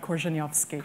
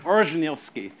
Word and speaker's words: Korzeniowski: extraordinary figure of Conrad, who's how do we pronounce his real name? Joseph Theodor Conrad Korzeniowski. Korzeniowski, known better to all of us as Joseph Conrad.